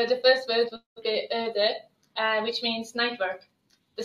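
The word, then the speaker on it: öötöö: I'm not going to embarrass myself by trying to pronounce these words, but Ads, how do you pronounce these words? So the first word would be öde, which means night work.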